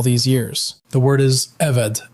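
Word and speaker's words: עֶבֶד: The word is eved. Eved, pronounced eved.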